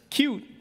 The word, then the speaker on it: Qt: I mean, I say QT, I know it's supposed to be pronounced cute, but I don't like pronouncing it cute because small things are cute, right?